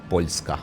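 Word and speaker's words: Poljska: Uh one brother from uh Poland, Pakia, Polonia, depends uh which country pronounces it. Pulska we say in Croatian and Argentinian brother.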